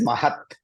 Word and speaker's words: Mahat: Which one is right? So it is Mahat.